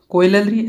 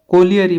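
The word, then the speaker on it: colliery: और आगे है कोइलरी, सॉरी कोइलरी या फिर कोलियरी पढ़ सकते हैं, कोलियरी। कोलियरी का अर्थ होता है कोयला। अब कोयले की स्पेलिंग अलग होती है, इसे कोलियरी पढ़ते हैं, कोलियरी।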